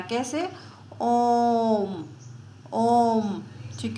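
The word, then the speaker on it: ओ३म्: यह एक्चुअल में ओम नहीं है। यह मात्रा लगी हुई है कि इसको देर तक उच्चारण करना है। कैसे? ओम।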